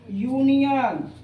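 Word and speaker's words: union: यूनियन यू का उच्चारण हो रहा है।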